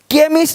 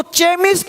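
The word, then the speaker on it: chemist: केमिस्ट, अब इसको चेमिस्ट नहीं पढ़ेंगे, चेमिस्ट। चोपड़ा को कोपड़ा नहीं पढ़ेंगे, इसको चेमिस्ट नहीं पढ़ेंगे, केमिस्ट।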